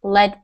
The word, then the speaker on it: lead: Yep, so in the first one, it's very dangerous to use lead paint. So we're pronouncing this word as if it was L-E-D.